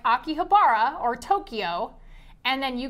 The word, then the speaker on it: Akihabara: I'm getting over your pronunciation of Akihabara. It's Akihabara.